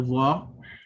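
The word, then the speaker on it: ظ: of your tongue, and it makes contact with the edges or the bottom of the front teeth.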